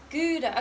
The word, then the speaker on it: Gouda: Do you guys pronounce it as Gouda, Gouda, or Gouda? Gouda.